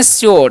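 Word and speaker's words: sure: श्यर क्या पढ़ते हैं शोर यहां पर यू का उच्चारण क्या हो गया यू का उ चारण हो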